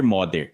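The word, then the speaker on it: Magyar: Esse modder já foi, aliás, especialistas em húngaro me disseram que no húngaro toda a ênfase está na primeira sílaba, então o correto é dizer modder.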